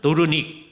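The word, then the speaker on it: Doornik: 도르닉의 중심부예요. 거기를 프랑스에서는 뚜루나이라고 그래요. 그죠? 뚜루네, 도르닉 같은 곳입니다. 그죠? 불란서로는 뚜루네라고 하고요. 화란 말로는 도르닉 그리고 피카드어로는 또르나이라고 하고 왈룽 번역으로는 또르네라고 해요. 왜 또르네라는 말이 더 일반적이냐?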